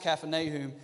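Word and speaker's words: Kfar Nahum: that talks about Jesus at Capernaum or kep pronounced Caffyn a whom but as the village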